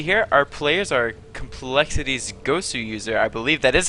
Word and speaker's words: coLgoswser: Yeah, it's even though there's a W there, it's supposed to be two Yeah. W's. So anybody who knows how it's pronounced, forgive us if we occasionally call him Gowser. That's Yeah, not what it is.